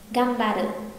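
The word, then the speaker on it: がんばって: Gam ba đự không đọc là gan mà là gam, gam ba đự.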